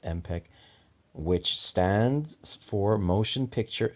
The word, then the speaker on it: MPEG: s understanding MP3 the name comes from MPEG pronounced mpec which stands for motion picture expert experts group